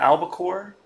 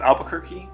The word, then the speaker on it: albacore: 38th fish was the albacore. I used to always pronounce this Albuquerque. That is not correct.